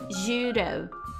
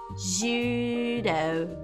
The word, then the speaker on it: judo: um R, mas ele tem um som muito parecido com um R, tá? Que é assim, ó. Judo. Judo. Judo. Judo. Tá vendo? O D é tão suave que parece o R. Se você pronunciar como R, não tem problema, eles vão entender perfeitamente. Judo. Judo. Mas é como se fosse um D bem fraquinho, ó. Judo. D, d. Judo. Judo.